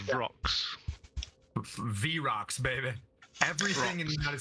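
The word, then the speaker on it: Vrock: V-Rocks, baby. Everything in the United States is V-Rocks. V6, V8, V whatever. If it's got a V in front of it, baby, you pronounce it's it V-Rocks.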